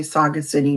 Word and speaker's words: sagacity: So given the social supports that we just talked about, the strategies that we talked about, the I keep wanting to say Saga City because that's how it's spelled, sagacity, and solution-seeking behaviors that helped you the last time.